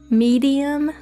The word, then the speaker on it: Mariam: just tell people to pronounce her name like medium like the word medium in between easy and